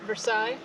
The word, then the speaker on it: Versailles: vers I don't know how you say it versai State Park in Versailles Indiana can I ask you a question of course how do you pronounce where we're at oh Versailles Versailles that's what I thought it was we're